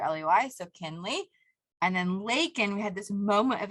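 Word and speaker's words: Laykin: And then Lakin, we had this moment of inspiration to flip-flop it. And so Lakin was L-A, we changed it so people say it right, L-A-Y-K-I-N.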